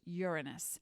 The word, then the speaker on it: Uranus: guided by the planet Uranus that's how it's pronounced Uranus and Uranus is a Greek word that means heavens cosmos